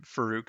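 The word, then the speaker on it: Faarooq: names wrong um no you said farook and uh ahmed johnson that's the correct way yeah oh yeah sorry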